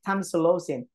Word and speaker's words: tamsulosin: tonsilosin yeah that's how you that's how you pronounce it tamsulosin that's the social way okay so this medication